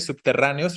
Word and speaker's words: subterráneos: Lo mismo que subterráneos, recuerden que la E y la O se separan porque son hiato, entonces tenemos subterráneos, ¿no? Esa sería la cuestión, por eso decimos que es esdrújula.